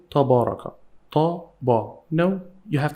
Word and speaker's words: تبارك: Pay attention, we have again the small alif here. So it works like long vowel alif. Taba, taba, taba, ra, ra. Tabara, tabara, tabaraka.